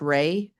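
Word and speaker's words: Wray: It's pronounced Ray, W R A Y.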